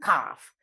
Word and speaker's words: calf: called baby right remember when you write the word el is a silent letter cow and calf then the last one